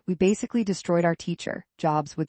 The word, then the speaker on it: Jobs: We basically destroyed our teacher, Jobs would say. We would let snakes loose in the classroom and explode bombs. His name rhymes with lobs, not lobes.